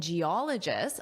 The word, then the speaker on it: geologist: Now, a team of engineers and geologists ah, where is that syllable stress? Well, you know, right? Geologist. Geologist. So that's where our syllable stress is.